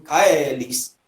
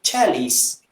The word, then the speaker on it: caelis: A pessoa diz assim, Pater Noster, qui es in caelis, sanctificator nomen tuum. Pronúncia restaurada. Pronúncia eclesiástica. Pater Noster, qui es in celis, sanctificator nomen tuum. Você já tem aí uma diferença do che para que.